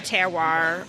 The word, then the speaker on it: terroir: the rain the soil composition really changes the terroir I don't even know if i'm pronouncing it right you're spot-on yeah tell say